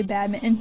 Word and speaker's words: badminton: we'll pronounce it but if it's in the middle of the word we're not going to pronounce that t like not i